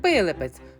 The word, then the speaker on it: Пилипець: вам село Пилипець взагалі-то правильно казати Пилипець то вже туристи переробили на свій манір пів тисячі років тому село називалося вербелепець на честь вчера Пилипа з наголосом на першому складі але як село не